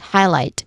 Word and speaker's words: highlight: When it comes to pronunciation, it starts with highlight which is two syllables. First syllable is high which has a clear eye dip thong sound and then light still with clear eyed dip thong sound. Highlight. Now the stressed syllable here is on the second syllable light.